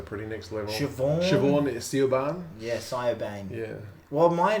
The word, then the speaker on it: Siobhan: Siobhan is Siobhan. Yeah, Siobhan. Yeah. Well, which was, which is spelled with a B with a H-A-I-N originally.